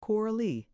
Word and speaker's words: Coralie: He called it Coralie, with an implication far from subtle that his sister had at some time thus Gallicized herself, presumably for masculine favor,